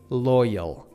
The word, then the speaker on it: loyal: You gotta pronounce it loyal. Loyal. You gotta make sure that you're not using between Y and L. Loyal, loyal. Like you have to kind of link it to each other.